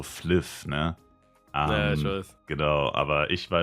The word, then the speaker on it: Flyff: tatsächlich irgendwie gesagt also da wird's FeV ausgesprochen das wahrscheinlich die asiatische oder japanische Aussprache und wenn es so auf Deutsch um ist um Münst wär es eher so fliff ne genau aber ich